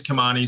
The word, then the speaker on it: Kimani: want to make sure my name is kamani so some people say uh with weird syllables sometimes okay yeah so